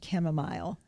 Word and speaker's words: chamomile: The chamomile kind of offsets that and makes you a little more relaxed. It does. So let's talk a little bit about the pronunciation of chamomile.